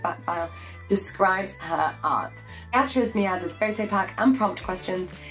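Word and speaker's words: Beatriz Milhazes: Beatriz Melhazes, pronounced Beatriz Melhazes, is a contemporary artist born in 1960.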